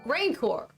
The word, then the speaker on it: rancor: who's saying it right ranker rancor rancor that's how fennec pronounced it perhaps you'll talk to